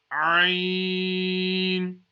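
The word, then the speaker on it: عين: Again, this letter also is pronounced from the middle of the throat.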